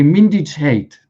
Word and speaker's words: Mindich Gate: And the main scandal is what in Ukraine they call Mindich Gate. Mindich Gate, that's the Ukrainian. Or when they pronounce it in Ukrainian, they say Mindich hate, right?